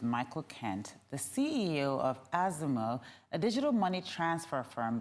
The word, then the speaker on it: Azimo: That's Azimo, we don't mind.